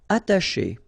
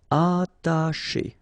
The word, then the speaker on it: attacher: Attacher. Okay, you don't pronounce the double T, okay, ata, but then remember, C and H together, they will produce this sh sound. Attacher, attacher.